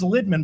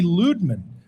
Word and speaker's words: Lidman: And he's like, it's pronounced, everybody says Lidman, but it's really Ludman.